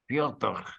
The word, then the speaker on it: Fyodor: It's Fedor. It's Fedor. Fyodor.